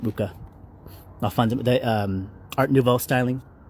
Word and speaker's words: Mucha: Or Mucha, or Mucha, some people say it. I pronounce it Mucha.